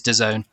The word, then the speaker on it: DAZN: a creative agency who came up with a pronunciation but yes it is de zone brilliant okay so now when we have that